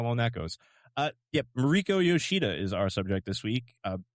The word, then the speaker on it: Mariko Yoshida: And this week, our subject is Spider Mariko Yoshida. Did I pronounce her name correctly?